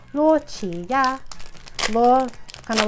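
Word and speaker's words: 洛奇亚: Qi, like Chi-Chi from Dragon Ball, I guess. And then Ya, so Luo Qi Ya. It's supposed to just sound like a transliteration or like the Chinese pronunciation of Lugia's name, essentially.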